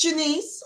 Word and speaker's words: Janice: And all social media is at Janice for Georgia, and it's spelled just like Janice. But it's Janice. I was born in Jamaica, and that's how we say it there.